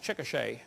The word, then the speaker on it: Chickasha: 2005 textbook, and I pronounced it wrong, it's Chickasha, not Chickashaw, Chickasha, Oklahoma.